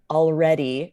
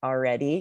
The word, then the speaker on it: already: is so native that when you said already you sort of skipped the L and said like already yeah the L this is very common you guys for Native American English yeah we are saving